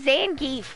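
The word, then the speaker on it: Zangief: like I can't no it has to be Zan geef we all said it was Zan gef that's the gef I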